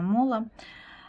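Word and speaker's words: MÅLA: Мало или мала, не знаю уж как произносится. Название товара Мола. Вот, правильно, Мола.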